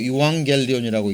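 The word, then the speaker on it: εὐαγγέλιον: 헬라어로 유앙겔리온이라고 읽는데 이에 대한 번역이 뭐냐면 좋은 소식, 기쁜 소식, 복된 소식이라는 내용입니다.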